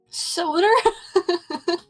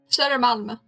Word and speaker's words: Södermalm: So when you say her, right? Yeah. The middle bit, that is the Sada? Sader. Sada. Sader. Sader. Pronounce the R. Oh, sadar. Dar. Sader. Dar. Sadar. Malm. Sadermalm. Södermalm.